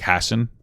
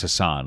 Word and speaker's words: Hasan: though because i would i normally would have pronounced his name like hassan but like it's hassan like gravel gravel gravel you